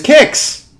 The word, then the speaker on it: Qix: this game is kicks and yes it is pronounced like that kicks is the first game